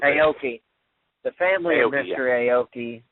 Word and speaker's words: Shuhei Aoki: Shuhei Aoki, I believe is how you pronounce it. Aoki.